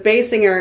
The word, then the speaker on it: Basinger: you know it was basing her and then it was Basinger well that was on